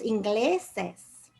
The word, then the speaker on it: ingleses: The natural stress is on the gle, where that syllable. The actual stress is on the gle, so you don't need an accent mark. Ingleses.